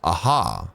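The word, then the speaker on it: Ajaw: your registration is complete you don't say the J so it's aha oh aha it all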